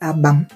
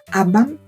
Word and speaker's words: abam: Prononcez Abam et l'Abam devient l'arbre majestueux. changer le temps. Abam, ça devient tout simplement une planche de n'importe quel bois. Changer encore de temps. Abam, c'est l'enveloppe ou la gaine qui protège le couteau ou la machette.